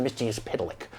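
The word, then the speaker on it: Mxyzptlk: misty as pedelec my name has many pronunciations yes all of them wrong interests Italy you have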